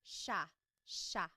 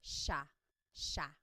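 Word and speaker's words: siya: It looks like it should be pronounced sea, but it's actually pronounced sha sha.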